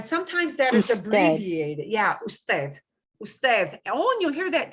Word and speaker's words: usted: one you and it's friendly formal is us usted and sometimes that is abbreviated yeah usted usted on you'll hear that t.h who said